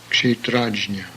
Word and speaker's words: Kshetrajna: KSH, buckshot, Kshetrajna.